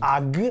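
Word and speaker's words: HAG: is this one and it's pronounced the Italian way AG so in Italian the letter H almost has no citizenship in our alphabet in fact all the words beginning with the letter H we pronounce them as if the age were not there for example when we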